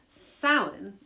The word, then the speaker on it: Samhain: So according to the Irish language pronunciation website, Samhain is how this word is pronounced.